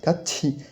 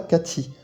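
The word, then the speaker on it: 같이: plus formelle et regardez il se prononce bien Kti et pas CTI alors comment est-ce que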